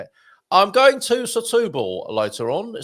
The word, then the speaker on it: Setúbal: So you're going to pronounce it as you would an S in front of a vowel. So it'd be S, not sh.